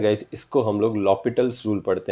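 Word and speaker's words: L'Hôpital: Fair ना बच्चा लोग, ऑल दो हम लोग ने इसको एल हॉस्पिटल लिखा है, बट we don't pronounce it like this, we always call it एज लॉपिटल्स rule. Okay, सो इसको हम लोग बोलते हैं लॉपिटल्स रूल।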